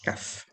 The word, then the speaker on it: cough: Cough, yes, it's a strange pronunciation. In fact, you can see here is cough. Caff.